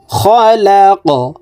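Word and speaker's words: خلق: রাব্বিকাল্লাযী খালাক। কফ কলকলার হরফ উপরের দিকে ধাবিত করে ধাক্কা দিয়ে সাকিন করে ফেলব।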